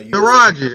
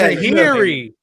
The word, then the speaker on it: Taraji: It's spelled T-A-R. You know her. Taraji.